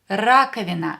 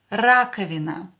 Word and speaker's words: раковина: Раковина. Раковина. Давайте напишем. Let's write it down. Раковина. Раковина. A sink. A sink. Скажите, say, раковина. Here O will be pronounced as A because it's not stressed.